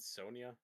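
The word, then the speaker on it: Sonja: Isn't it Red Sonia? read Sonia. You're right. For some reason, I read the Jay phonetically.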